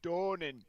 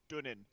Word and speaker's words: Donan: And it's pronounced Donan, not Dunin. Because the people who pronounce it Dunin don't really know what they're doing.